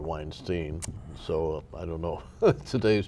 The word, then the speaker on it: Weinstein: Weinstein, when I knew him, by the way, he pronounced it Weinstein, not Weinstein.